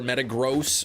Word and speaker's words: Metagross: Metagross would be awesome too, or Metagross, apparently is pronounced.